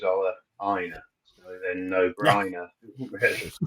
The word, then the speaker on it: Ola Aina: Ola Aina, but then he did one of the Premier League where they all reveal themselves and how their name is to be pronounced. And he decided he was Ola Aina.